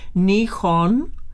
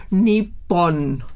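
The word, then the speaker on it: 日本: la actualidad, e incluso muchos japoneses pronuncian Nihon, ajá, con la H intermedia, claro, aspirada, no muda, como nosotros lo haríamos en español, o Nippon, ¿no?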